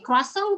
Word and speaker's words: croissant: Croissant tuh yang dibeli. Croissant. Makarong, ya. Makarong. Croissant, bacanya croissant.